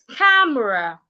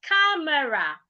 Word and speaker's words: camera: Another word is camera. A lot of people pronounce this word as camera. Camera. I love your phone camera. It is not camera. It is camera. You should pronounce it like this. Camera. Camera, not camera.